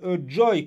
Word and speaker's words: Joi: ils écrivent joj mais le prononce joy comme la joie en anglais et de manière très